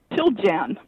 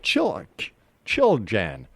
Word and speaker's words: Chiljan: Chiljan. Chiljan. Chiljan. Yeah. All right. Chiljan. Chiljan, right. Chili in January. All right.